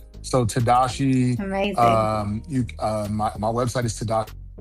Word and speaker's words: Tadashi: It's It's Tadashi. It's spelled very weird.